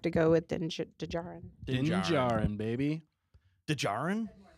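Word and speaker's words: Djarin: go with Ninja baby dejarin that's how he spells it yeah D is silent yeah I think din's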